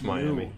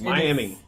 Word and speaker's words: Miami: Yeah, it's Miami. Yeah, I was. You can't. You guys cannot decide how vowels are pronounced. They have a finite structure. Yes, it's Miami.